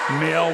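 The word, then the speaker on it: Moehl: Quick substitution, and Andrea Mail will come in. And coming out will be Andrea. So we got the Mail sisters in there. Spelled exactly like you get in the mail.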